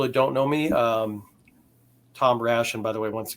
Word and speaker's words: Rasch: I'm gonna say your last name wrong. Rasch.